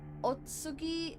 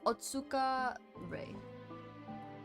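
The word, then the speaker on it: Otsuka Rei: Her name is Otsugi or Otsuka Otsuka Ray. I'll even type it in the chat. I butchered the crap out of that. It's Otsuka Ray.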